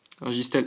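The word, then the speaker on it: Registeel: oublié mais je sais plus comment ça se prononce mince régisty Stelle Stell Stell c'est Stell registel X registel X donc la 81e sur 124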